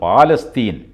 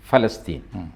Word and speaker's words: ഫലസ്തീൻ: ജയ് മീം ജയ് ഫലസ്തീൻ നമ്മൾ മലയാളികൾ ആണല്ലോ പാലസ്തീൻ എന്ന് പറയുന്ന ആൾക്കാർ ഫലസ്തീൻ അതിന്റെ ആ അറബിക് ഉച്ചാരണം തന്നെ നിർബന്ധമാണ് അതെ ഫ ആണ് ഒഎസി മജ്ലിസ് മജ്ലിസുൽ ഇത്തിഹാദിൽ